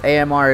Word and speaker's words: Amr: You say it all at once. AMR is so Amr.